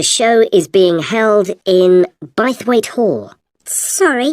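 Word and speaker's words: Bythwaite: free and the show is being held in bwe Hall sorry how do you spell that b y t h w a i t e b weight is it easy to find I'm not very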